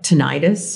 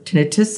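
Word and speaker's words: tinnitus: hearing before were gonez I also have uh tentis or tenus however people pronounce it the hearing aid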